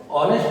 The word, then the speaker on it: honest: Honest में h silent रहता है, honest.